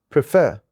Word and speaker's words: prefer: Prefer. As you can see, we have two syllables in this word prefer. The second syllable which is f as a stressed.